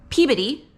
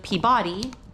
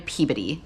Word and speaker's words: Peabody: We are in Peabody, not to be confused with Peabody, we've been told that is not how you pronounce that. We are in Peabody just for last night, and we check into